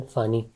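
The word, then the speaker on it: Fani: The name of the cyclone फानी, ठीक है, pronounced as फोनी, was suggested by Bangladesh, ठीक है.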